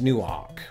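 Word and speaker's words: Newark: New York so there's still an emphasis on that first syllable but they also emphasize the word Ark that's in there so Raiders of the Lost new Ark would not that's not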